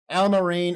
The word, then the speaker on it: Allamaraine: listening to the podcast Alma rain is spelled kind of like it sounds a-l-l-a-m-a-r-a-i-n-e so if you